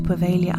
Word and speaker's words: Poveglia: But today I'm going to take you to Poveglia Island. There is a G in there, but I consulted my Italian friend and he said the G is silent.